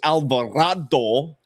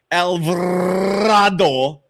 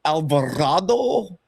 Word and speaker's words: Alvarado: Jaylen Brunson and Jose Alvarado. Alvarado not rolling my Rs well tonight. Jose Alvado. Does that rhyme with avocado? Alvarado.